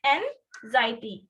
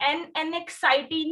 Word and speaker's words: anxiety: इसकी pronunciation correct बोलनी है आपने. स्पेलिंग है ANXIETY, ANXIETY, एंजाइटी. ठीक है, प्रोनाउंसिएशन है एंजाइटी. एनएक्साइटी नहीं कहना है इसको. It is not anxiety, it is anxiety, right?